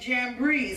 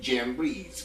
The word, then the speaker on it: Jambres: Okay, Janus and Jambres, because that J ain't in the Hebrew. But anyway, we just pronounce it in English, Janus and Jambres.